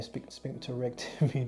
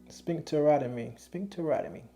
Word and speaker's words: sphincterotomy: The name of the surgery, I want to say sphincterotomy. Because I'd be saying sphincterectomy. They was like, no, that ain't how you say it. But sphincterotomy.